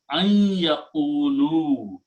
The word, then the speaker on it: أن يقولوا: And then an and ya together bring the sound of gunna. So you put a shadda there and you pronounce an yaqulu, not an anymore.